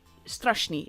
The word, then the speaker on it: Strashni: the thing is that it's called strashni is how you pronounce this obviously it is a reroll I have a feeling that this is xcis but stration is how you pronounce this name and apparently it means scary or spooky and I have to